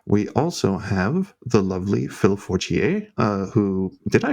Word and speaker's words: Phil Fortier: We also have the lovely Phil Fortier, who, did I pronounce that correctly? I feel like it should be French.